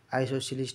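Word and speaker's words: isosceles: बराबर भन्नालाई के भन्छ आइसोसेलिस है यसको प्रोनन्सिएसन छुट्टै किसिमको छ आइसोसेलिस भन्छन् हैन आइसोसेल्स हामीले प्राय जस्तो स्कूलमा हैन आइसोसेल्स पढ्ने गरेछ तर यसको वास्तविक प्रोनन्सिएसन आइसोसेलिस ट्राइंगल हुन्छ है ल त्यस्तै गरी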